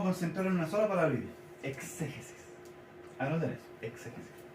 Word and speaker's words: exégesis: Nos vamos a concentrar en una sola palabra: exégesis. Anoten eso, exégesis. Con X, exégesis. Exégesis. Exégesis. Con acento en la E, con tilde en la E.